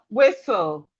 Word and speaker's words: whistle: We have whistle. The T here is also silent.